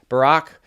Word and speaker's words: Barak: Barak is how you pronounce that.